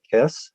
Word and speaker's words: Kes: His first film score, 1969's, uh, make sure I'm pronouncing this right, Kess.